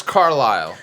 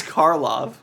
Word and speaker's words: Karloff: It's Boris Carlyle. Come on, kids. It's not. I just want to see if she looked up. Butchered his name too. Boris Karloff. Oh, not Carlyle.